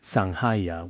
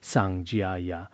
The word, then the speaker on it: Sangha: Namo Buddha, Namo Dharma, Namo Sangha, Sangha, which is also pronounced Sanjaya. I believe that when we recite it, it is better to use the Ga sound.